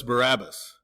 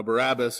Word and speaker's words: Barabbas: and release to us Barabbas." Now, Barabbas, even though we pronounce it that way, is actually the Aramaic name Bar Abbas.